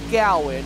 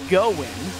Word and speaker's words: Goen: made sure we knew it's not pronounced Gowan it's pronounced Goen um but I feel